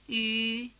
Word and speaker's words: 鱼: If you pronounce the steady E sound and then round your lips into an U position without moving your tongue, you'll get the Y sound. Listen. 一鱼一鱼一鱼 Try imitating the speaker.